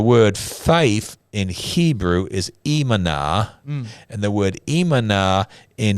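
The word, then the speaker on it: אמונה: And in Hebrew, the word is imana. Yes. Imana. Yeah. But it's faith. I know it looks like emuna, but it's pronounced imana. Yeah. Imana.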